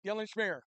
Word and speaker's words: Dylan Schmier: That's how you say it, Dylan Schmier.